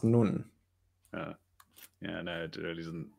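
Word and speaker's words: נון: if i can uh so it's pronounced nun yeah i know it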